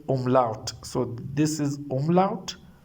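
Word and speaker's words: Umlaut: Oml singular we say um lout.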